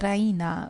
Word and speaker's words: Raina: She pronounces it the Rena with the stress on the E. Rya.